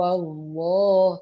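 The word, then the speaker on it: الله: fakta atau Doma yetoya jadi ketika ada lafadz Allah sebelumnya adalah huruf yang berharakat fathah atau domba maka dia menjadi tebal contoh kulhu allohu 20 Wakwaw akan berharokat fathah bukan kuwi ataupun Wook tapi kulhu wa ketemu lafadz Allah makalahnya menjadi tebal kulhu allohu hulu Wow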